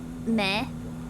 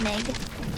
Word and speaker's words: meg: The G is silent right at the end of things. Like Meg is is meh me not Meg.